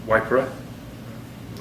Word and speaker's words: Waipa: a Mari word um probably a few of the locals would call it wiper there's a lot of